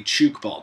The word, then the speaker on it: Tchoukball: Rini pretty much every summer is there's a Chuke ball tournament if you don't know what chuk ball is like 99.9% of the world just go